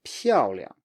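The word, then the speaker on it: 漂亮: So make sure the stress is really on the first syllable. 漂亮.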